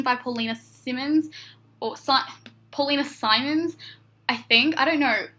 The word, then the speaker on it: Simons: paulina simmons or paulina simons i think i don't know i've always heard it's pronounced simmons but it's spelt simons so please correct me